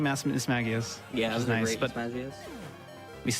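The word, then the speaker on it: Mismagius: M Miss Maggias. Yeah, that was great. Miss Magas, we still have a Hunter coming up. Is it Miss Magias or Miss Magias? It's Miss Maggias.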